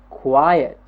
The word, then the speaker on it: quiet: yes quiet good quiet look at the word we have the first consonant quer the I cry yes why and the second syllable it cry and add another vowel ah yes and the continent to cry and earth so we know every